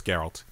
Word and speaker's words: Geralt: in like a couple videos, complain how to pronounce his name. Geralt. I'm pretty sure it's Geralt.